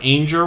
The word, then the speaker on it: Anger: now this was jennifer anger rhymes with danger they changed their name